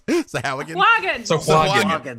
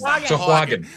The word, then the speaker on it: Sahuagin: the sharks and the Sahuagin. I lost it again. What is Sahuagin? Sahuagin. Which, honestly, that is how it's spelled if you look at it.